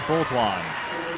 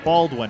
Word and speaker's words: Baldwin: Well, we've got a 3 coming, and that's short from number 31, Heidi Boltwan. Caitlin Conniff with the putback. That's Heidi Baldwin, I should say. It's pronounced like Alec Baldwin.